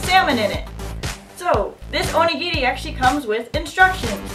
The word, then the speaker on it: onigiri: today we will be opening up an onigiri. It is from Japan, and it's pronounced O-ni-gi-ri.